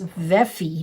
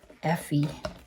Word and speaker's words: Veffy: And I just realized I'd been pronouncing this wrong. It's Veffy, not Effie. Or I think I was pronouncing it with an F.